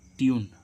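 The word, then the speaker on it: tune: है घन ठीक है ऐसे इसका टी यू एन ई य के बाद क्या आ रहा है कंसोनेंट कसनेट के बाद कंसोनेंट के बाद क्या आ रहा है य तो इसको हम क्या पढ़ेंगे ट्यून ट्यून ट्यून मींस क्या होती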